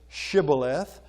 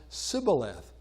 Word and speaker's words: Shibboleth: And the people in the west would pronounce it Shibboleth. But, the people on the east would say Shibboleth. The people on the west language had changed, and they would now pronounce it Sibboleth.